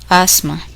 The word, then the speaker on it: asthma: The letters are silent in the following words. Listen and repeat each word after the speaker. Asthma.